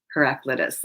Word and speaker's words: Heraclitus: the listening I hope I'm saying that right heraclitus I think is how you say it he